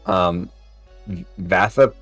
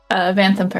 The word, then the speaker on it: Vanthampur: Vathapuer? Vanthampur.